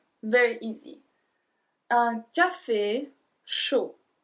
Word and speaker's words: chaud: Un café chaud. Chaud. So we don't pronounce the D at the end.